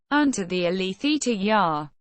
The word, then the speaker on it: Xunta de Galicia: The Xunta de Galicia, Galician pronunciation, ʻʃunta de ɡaʻliθja, Government of Galicia, is